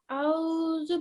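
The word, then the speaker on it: أعوذ: There's no aw in Arabic. It is a'udhu.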